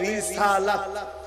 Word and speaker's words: রিসালাত: নারায়ে রিসালাত ইয়া রাসূল্লাহ রিসালাত ইয়া উচ্চারণটা হবে রিসালাত নারায়ে রিসালাত মামানার রিসালাতের